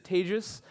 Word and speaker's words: Tejas: My name is Tejas. That is pronounced like advantageous.